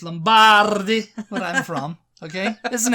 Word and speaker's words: Lombardi: It's Lombardi, where I'm from.